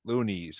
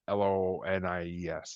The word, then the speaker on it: Luniz: Oh yeah, Loonies, who is spelled Luniz. Mm-hmm. Not. I keep thinking it's like Lonies.